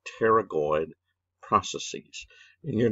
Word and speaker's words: pterygoid: right anyway they're called pterygoid the p is silent don't go pateragoid pterygoid process probably that